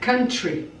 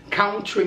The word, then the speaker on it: country: Many Brazilian people, é uma pronúncia que muitos brasileiros erram, falam country. Country music, but the correct pronunciation is can. Can. Repeat, country. Like, you know, can-can? Tan-tan, tan-tan-tan-tan, tan-tan-tan-tan, tan-tan-tan, can-can. Esse som, country.